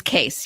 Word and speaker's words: Kees: great to be here so even though you spell your name k-e-e-s it's case yes it is actually yeah that's the way you say it as my wife always said you s you say it like suitcase better than nut case but anyway yeah depends